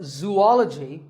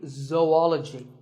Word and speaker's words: zoology: do you say it if you said zoology it's actually wrong that is a very common mispronunciation this is actually zoology though and ecology zoology number 42